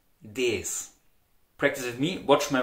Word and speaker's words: das: Now, in the Austrian dialect, the article for the neutral nouns, das, is very widely pronounced as des.